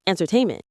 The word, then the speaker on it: entertainment: That's entertainment. The stress is on the third syllable tain. Say it with me. Entertainment. It's like enter and then tainment.